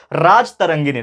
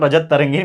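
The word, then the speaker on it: राजतरंगिणी: क्या बोलते हैं दोस्तों, राज तरंगिनी। नॉट रजत तरंगिनी, मैंने आपको रजत बोल दिया, दैट इज राज तरंगिनी, ठीक है ना।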